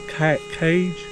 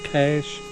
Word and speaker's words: cache: That's called a cage. Well, how do you pronounce that? A cache. Oh, a cache.